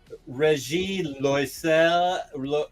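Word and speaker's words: Régis Loisel: that wrote Peter Pan, Regis Loisel. Well, he's French, so you only pronounce like 3 of the letters in his name.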